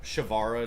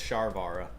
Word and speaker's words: Sharvara: Shavara to 0. I'm actually going to put it on there. I think that's a... I don't know how to spell it. Unchained. Sharvara. Oh, it's Sharvara.